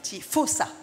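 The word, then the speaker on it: Faussat: France um Baptist fos um I think I pronounced that right f a u SS a t fos u s s a fosa fosa okay Baptist fosa Baptist F yeah yeah yeah fantastic language Creator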